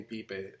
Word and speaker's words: Pipe: In the English language, you know, most people don't know how to read it because they read it like pipe. Right. And as a funny anecdote, most people that call us, it's like they're afraid to pronounce the name as. Yes. So you can hear the person on the other end like being doubtful about pipe. Anyway, it's called PIPE, you know, and that's.